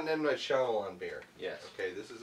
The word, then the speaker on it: Shyamalan: Is it Shyamalan or Shyamalan? Shyamalan. Shyamalan. M. Night Shyamalan. I've never. Some people cannot pronounce that name, but I think people do it intentionally.